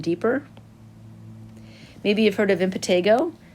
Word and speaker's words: impetigo: maybe you've heard of impetigo i don't know why that's how i pronounce it i think some people do impetigo and patego the key here is